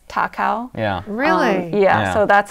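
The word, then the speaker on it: 高雄: So they decided to call it Kaohsiung, which means like high hero, because in Japanese, it's pronounced the same as Takao.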